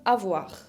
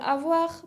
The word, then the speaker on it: avoir: que es le verbe avoir. Le verbe avoir puede significar tener o haber. Tener o haber. Avoir, con la R final que se pronuncia de la garganta.